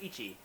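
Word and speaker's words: 一: When one is by itself, it's pronounced ichi and it is basically just a horizontal line.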